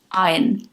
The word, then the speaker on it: iron: Iron, no R. Iron, R is silent.